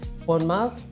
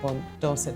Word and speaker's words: Bournemouth: community in Dorset, Bournemouth um Bournemouth, Doset, sorry, not Bon Doors, Bournemouth.